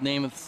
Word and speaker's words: Namath: And I think that's the first time we've called Namath's name today. Namath and is the pronunciation.